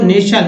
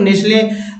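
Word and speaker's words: nestle: नेक्स्ट है तो नेशल, नेशल में टी का उच्चारण, कुछ लोग नेस्ले पढ़ते हैं तो नेस्ले वो अलग वर्ड हो जाता है, या नेशल मीन्स बसा होना, एक्शन वर्ड है।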